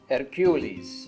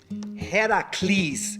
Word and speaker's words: Heracles: Hercules. Am I pronouncing that right? Hercules. Heracles, actually, because dig at Hera because she hated me so much, Heracles?